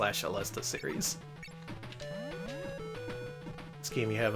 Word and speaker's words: Aleste: Yeah, and JP Ronnie, I've been calling it Aleste for like as long as I've known Danny, and I only recently now know that it's Jesus pronounced. God, I suck. Let's try that again. Okay. Yeah, it's something that I always forget and have to look up again, but yeah, it is Alesta.